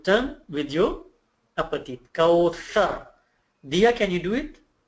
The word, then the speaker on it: Kawthar: So it's not Kawsar, it's Kawthar. Thar. Can anyone do it? Kawthar. See, my tongue is touching my upper teeth.